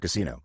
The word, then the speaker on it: casino: with the other word Casino pronounced confusingly with the stress on the penultimate syllable in exactly the same way as the English word back asterisk two now